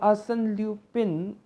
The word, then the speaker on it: Arsène Lupin: Among the options, it is Arsène Lupin. So Arsène Lupin, or if I pronounce it in French, Arsène Lupin, is the answer to this particular question.